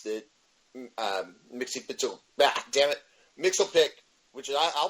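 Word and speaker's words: Mxyzptlk: um Mixie, Damn it, Mixelpic, which is I I'll pronounce it Mitchell pick that's how they pronounce it on Super Friends.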